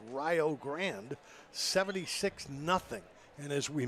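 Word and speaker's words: Rio Grande: Actually located in Ohio and pronounced Rio Grand 76 nothing.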